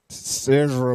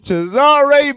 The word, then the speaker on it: Cesare: certain way to you, like Cesar Borgia and Caesar. What? That ain't real. It's Cesare Borgia.